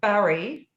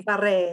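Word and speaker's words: Bury: To Bari. Barry. Barre. Is that close? Okay, because I've heard it pronounced so many ways. But You think of a town, great it was site. Simon's It's like Barry.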